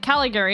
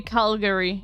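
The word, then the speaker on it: Calgary: um that's that's Canada I said cigary is it is it is it something else be calary yeah calary yeah okay I said it wrong fine whatever whatever we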